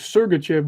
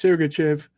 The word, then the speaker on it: Sergachev: name wrong for years i always thought it was sergachev but it's surrogachev but yeah i'm a